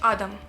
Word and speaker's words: Адам: казала Адам Адам чи Адам його звати Адам наголос на перший склад якщо що і в цьому восьмому